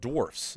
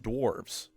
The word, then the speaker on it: dwarfs: that First magic is that it's was not working dwarfs, around them. not dwarves. Second is that these dwarfs stand out, though. First is that it's pronounced dwarfs, not dwarves.